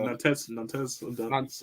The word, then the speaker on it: Nantes: Nantes. Yeah, whatever. That's how you pronounce it. Nong.